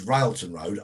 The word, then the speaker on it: Railton Road: already running very high ralton road railton road r-a-i-l-t-o-n route and road um as i would pronounce it with miss south london twang in brixton was known